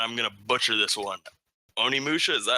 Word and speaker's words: Onimusha: Another one being, and I'm gonna butcher this one, Onimusha.